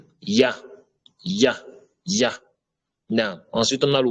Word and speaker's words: ي: Déjà, pour prononcer le ya, je vous avais dit, le ya, il faut que la langue soit collée en dessous des incisives inférieures, comme le Y en français. Ya, ya, ya.